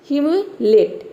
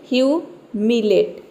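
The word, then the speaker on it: humiliate: हम पढ़ेंगे ह्यू मिलेट इस तरह से आपको तोड़ के प्रोनाउंस करना है ठीक है क्या पढ़ेंगे ू पहले पढ़ेंगे एच यू का हो गया ू ठीक है एम आई हो गया मी एल आई हो गया ली और ए टी ई हो गया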